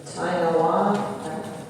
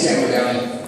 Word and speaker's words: Ting: Our next speaker is Mr. Tong. If I'm saying that correctly, Downey, if you can pronounce that for me, help me. My name is Ting.